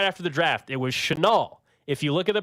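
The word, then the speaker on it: Chenal: place there you go someone says isn't it Channel no no no we've had this discussion before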